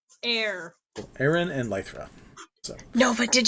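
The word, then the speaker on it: Aeran: one a a rom it's literally aaron like it's like aaron but air aaron and lythra no but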